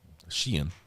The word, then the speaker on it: Ski: I liked uh Sheen. It's spelled like skiing, but uh I uh I even dated a girl from skiing after I came back from Norway.